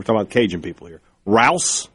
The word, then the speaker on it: Rouse: Rouse, I think it's Rouse, like the grocery store.